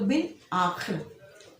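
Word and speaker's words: بالآخر: ठीक है, और इसी तरह बिल आखिर में भी अलिफ जो है वो साइलेंस है और बे जो है लाम में मिलेगा। ठीक है, अलिफ जो है साकिन है इसके अंदर, तो बिल आखिर।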